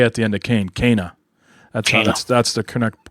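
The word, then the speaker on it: Kena: uh i finished cana bridge's spirits i've been mispronouncing it yeah like the last two shows it's actually cana like abel and for people who are familiar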